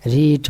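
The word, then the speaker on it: read: রিড মানে পড়া। রিড মানে পড়া। এর পাস্ট ফর্মের উচ্চারণ কিন্তু রেড। যদিও বানানটা একই। একটু জেনে রাখবেন।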